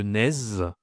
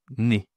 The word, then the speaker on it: nez: Attention, tu ne dois pas prononcer le Z. On ne dit pas le naz, on dit le nez.